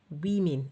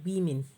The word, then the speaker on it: women: is w-o-m-e-n women the plural form of woman women is pronounced women women all right about this word r e